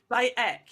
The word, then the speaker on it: Bayek: Bayek, you don't pronounce the H. But like, you don't pay, yes, the H. It's just by heck. and then Ek.